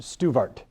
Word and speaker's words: Stuart: In French, so I'm told, this spelling of Stuart would be pronounced Stuvart. There'd be a V in the pronunciation, and so in order